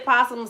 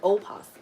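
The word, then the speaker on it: opossum: We say possum. Some people pronounce it o possum but we don't do that y'all.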